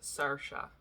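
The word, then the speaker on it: Saoirse: there's an actress named sirsha ronan i think she pronounces it sarsha which is not the actual like pronunciation in um in ireland but um i really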